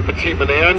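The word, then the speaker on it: Petit Manan: slowing down here when we get closer to petite Manan you can see the island now is here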